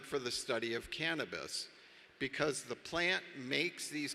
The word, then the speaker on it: cannabis: And you notice that in Greek, the accent is on the first syllable as opposed to Spanish. So we say cannabis rather than cannabis.